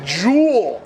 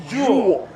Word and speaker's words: Joel: all changed it to jewel do you guys get jewel Erickson act willow but it says Joel but pronounces a jewel Wow anyone know he's